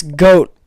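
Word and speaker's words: Goht: It's goat. I don't know why it's spelt G-O-H-T, but okay.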